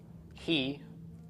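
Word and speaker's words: היא: WH o but in Hebrew who is he he is she okay so these can be used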